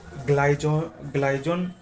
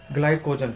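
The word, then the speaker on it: glycogen: और जब हम एक्स्ट्रा कार्ब खाते हैं और उनको बर्न नहीं करते हैं, तो वो ग्लाइजोन ग्लाइजोन इफ आई am pronouncing correct और नॉट, ग्लाइकोजन, हाँ ग्लाइकोजन होता है।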